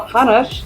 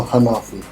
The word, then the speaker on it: Hanafi: Now, we've got one guest we're going to first talk to with Dr. Hanash. Is that how you say it? No, Hanafi. Hanafi, I'm sorry.